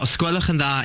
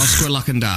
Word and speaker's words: os gwelwch yn dda: Remember, osgwelwch yn dda is please. Osgwelwch yn dda. Is please. Yes. Osgwelwch yn da. Osgwelwch yn dda. Osgwelwch yn da. Dda o da? Osgwelwch yn dda. Oh, it's dda.